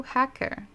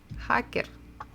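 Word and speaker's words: хакер: in Russian language but one of them is hacker so hacker hacker sounds pretty much the same and again why because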